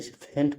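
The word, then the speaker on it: faint: जीच नहीं है यहां पर एनटी है तो फेंट पढ़ेंगे यहां इसका उच्चारण जो है ही हो रहा है आर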